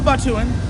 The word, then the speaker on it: Batuan: Now, are you a Batuian or a Batuan? I'm a Batuan.